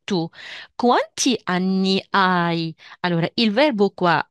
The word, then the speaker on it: hai: abbiamo detto o E qua si pronuncia ai e la h sempre non si pronuncia E tu quanti anni hai Allora il verbo qua